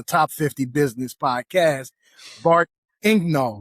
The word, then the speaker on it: Egnal: which is a top 50 business podcast, Bart Ingnol. Right. Am I pronouncing right?